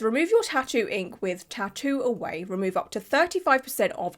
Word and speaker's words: Tatt2Away: That's literally the brand's name, Tattoo Away, but it's spelled T A T then the number two then away.